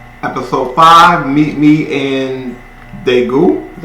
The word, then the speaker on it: Daegu: episodes today yeah episode five meet me in daegu is how you say it and then episode